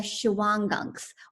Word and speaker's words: Shawangunks: It was an area in the Shawangunks, or pronounced different ways.